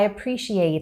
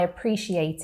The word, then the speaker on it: appreciate: appreciate and in it there's a glottal t there so i'm not pronouncing it but there is a sound there where I am stopping the flow of air and then releasing it.